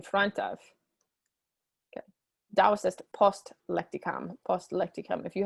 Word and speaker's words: post: Note that the O in post is short, so it's not post, it's post.